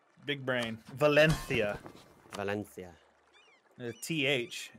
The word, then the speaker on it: Valencia: Valencia. Valencia. TH. If there's ever an S or a S or a C that makes an S sound in Spanish, you just pronounce it with a TH.